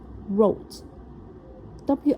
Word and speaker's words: wrote: 跟住記住過去式有啲難串啊嚇，哇，oats wrote，WR 係一個字，OK，讀音得樣，wrote，R-O-T-E，I wrote。A funny story and gave it an interesting title。